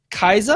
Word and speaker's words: Kai'Sa: So patch 8.5, new champion came out, Kaiza. I think that's how you pronounce it. Kaiza, That is yeah.